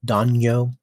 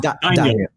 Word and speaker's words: daimyo: if I can pronounce the word correctly, Danyo. Daimo. Daimyo? Daimyo.